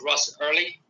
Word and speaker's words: Ross Errilly: Franciscan fiery and its uh name is called Russ early um it lies on what would be known